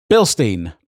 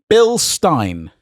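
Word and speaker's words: Bilstein: Billstein. Billstein. It rhymes with pine, blah blah blah.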